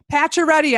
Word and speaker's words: Paccioretti: Paccioretti, I pronounced it correctly, right, Tom? That's correct, just the way it's spelled.